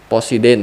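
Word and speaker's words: Poseidon: Apa bacanya nih? Posiden ya.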